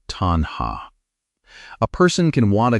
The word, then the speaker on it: tanhā: The word is tanha. Say it like tanha.